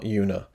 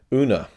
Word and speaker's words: Una: how you pronounce it una not yoona una um which stars rooney